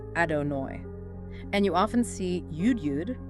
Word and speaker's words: Adonai: so much so that we don't pronounce it directly out of reverence. Right. We usually say Hashem, which just means the name. Exactly. But during prayer, we pronounce it as Adonai.